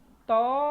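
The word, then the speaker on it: طه: Ain tadi ya kita baca ya Ini dibaca thha cuman dua harakat saja ya Jangan dibaca ta salah ini hanya Ha Tebal tapi ini th bukan ta kita baca thha nah ha bukan th ha salah ini h-nya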